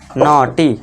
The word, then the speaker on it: naughty: जब देखिए AU आए तो आपको अ करना है, साथ ही साथ अगर GH है तो GH को आपको क्या कर रखना है दोस्तों, आपको साइलेंट रखना है। तो इसे क्या पढ़ेंगे, कॉट। इस तरह इसमें भी देखिए AU है, इसके बाद GH आया है तो इसे क्या पढ़ेंगे, नॉटी।